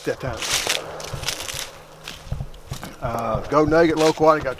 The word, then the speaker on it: loquat: Gold Nugget Lowquat.